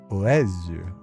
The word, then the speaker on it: oiseau: Oiseau. Oiseau. Oezu. Oezu. So it's pronounced Oezu, and it's written like this.